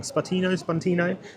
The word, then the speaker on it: Spuntino: I keep saying it wrong. Spuntino. I'm thinking of Sputnik.